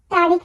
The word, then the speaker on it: tre: সময় ভুল করে থাকি আমরা সিম্পলি বলি কিন্তু উচ্চারণ হবে ত্রে আমরা এই উচ্চারণ করার ক্ষেত্রে একটু তাড়াতাড়ি উচ্চারণ